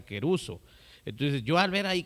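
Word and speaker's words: κηρύσσω: Por ejemplo, aquí la palabra predicar es la palabra querizo, bueno, así se menciona, o así se escribe, pero así se menciona queruso.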